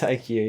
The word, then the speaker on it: IQ: man are we sure are we sure it's pronounced IQ pretty sure it's not ick I'm pretty sure it's IQ yeah thank you Tim um man three and